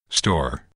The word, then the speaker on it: store: Here is store. Store. Remove the S, and what's left is not tor, but door.